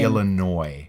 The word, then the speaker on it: Illinois: yeah so you don't burn out the SDA Illinois you know I what let you see even